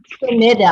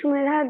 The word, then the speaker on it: Shumedha: Sumeda. I'm sorry, I pronounced your name wrong. Sumeda. Yes, you talked to me, you told me. So my name is Shumedha.